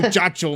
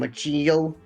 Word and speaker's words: muchacho: institution, you know the muchacho man can't say no. I knew you were an all-star athlete and student the moment you walked in. But wait, I say his name Machillo? No, muchacho. Muchacho.